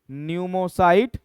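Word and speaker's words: pneumocyte: इसको बोलेंगे न्यूमोसाइट second. अब ध्यान देना, मैं यहाँ P1 और P2 लिखा हूं, इसका वजह यह है बच्चों कि न्यूमोसाइट को P से लिखा जाता है। P क्या होता है? साइलेंट, ठीक है, P क्या होता है?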